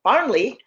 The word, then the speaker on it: Farnley: But when Farnley, make sure I'm pronouncing his name, yeah, Farnley, another character who will be pivotal in organizing